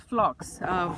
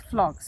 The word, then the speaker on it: phlox: my bed look prettier, and this is called phlox. Many of you might be familiar. It's spelled Phlox, phlox, and it's a beautiful ground cover.